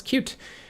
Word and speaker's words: Qt: i just learn this yes that is indeed how you pronounce cute and i can tell you this for sure because um i used to work on the cute team at nokia so